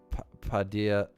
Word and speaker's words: Padilla: Yes, Padilla is like when you told you how to pronounce quesadilla.